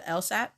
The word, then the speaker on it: LSAT: how to say this this is called the LSAT it's what um think of it like you